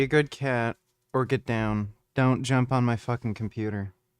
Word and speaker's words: DOGE: department of government efficiency it's pronounced do instead of doggy this is a missed opportunity doggy is a much better name either way Trump designated